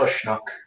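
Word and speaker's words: Uisneach: Also called Ushnock, if you want to use its Irish pronunciation.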